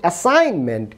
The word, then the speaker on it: assignment: আবার দেখুন অ্যাসাইনমেন্ট, ASSIGNMENT, এখানে কিন্তু শব্দের স্পেলিংয়ে জি রয়েছে, কিন্তু উচ্চারণে কি জি এর উচ্চারণ হচ্ছে? অ্যাসাইনমেন্ট, অ্যাসাইনমেন্ট।